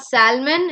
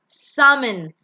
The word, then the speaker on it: salmon: L is silent. It's not salmon. It's salmon. Salmon.